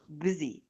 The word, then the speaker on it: busy: زي busy الS هنا اللي هو مشغول، الS هنا بتتنطق busy زي ابن العم cousin مش cousin زي صحراء desert يبقى الS ليها نطقين.